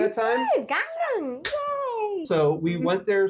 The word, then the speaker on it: Gangneung: Did I pronounce it correctly that time? Gangneung.